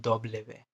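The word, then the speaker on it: doble ve: अभी फ़िलहाल इसको एज अ बी की तरह प्रोनाउंस करना। स्पेनिश डब्ल्यू, स्पेनिश के डब्ल्यू को बोलते हैं दोबले वे, दोबले वे, डबल वी।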